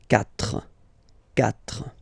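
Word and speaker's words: quatre: So you've got this C but then the sound that you will pronounce is ka. Okay. Catra.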